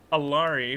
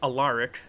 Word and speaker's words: Alaric: Yeah, and I mean, Alari, who I found out is actually pronounced Alaric. Sorry.